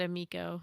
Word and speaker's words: Amico: D-Day and Bliss said Amico. Amico, yeah. Back our boy. A Tommy Tallarico funded Super Sega can't go wrong. It's because it fucking rhymes with his name. Tommy Tallarico, Amico.